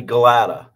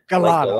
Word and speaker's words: Gielata: Got to welcome Gielata. I pronounced it right, right? It's actually Gielata. Gielata. Like, glad to meet you, but that's all right, though.